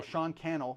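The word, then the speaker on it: Sean Cannell: So Sean Kel rhymes with YouTube channel.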